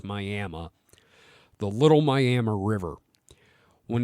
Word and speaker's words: Miami: Yes, Miami, spelled Miami, but pronounced Miami.